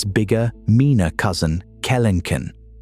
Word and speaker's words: Kelenken: The answer is Phorusrhacos, and its bigger, meaner cousin, Kelenken, pronounced Kel en Ken, which stood about 10 ft tall and weighed over 1,000 lbs.